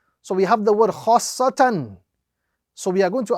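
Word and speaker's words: خَآصَّةً: So first stretch, join, emphasize, and then complete the word. So the correct pronunciation of this example is khassatan, khassatan.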